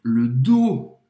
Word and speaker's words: dos: Je m'étire le dos. Je m'étire le dos. As costas. Le dos, em francês, tem um S, mas não se pronuncia, o S é mudo.